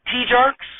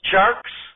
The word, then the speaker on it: Tjarks: a basketball expert Jonathan t-jarks to talk some basketball before we get to the Bears Farley dammit Willard are you there Mr t-jarks over the speakerphone Jonathan shark says it's actually pronounced sharks Willard I'm sure it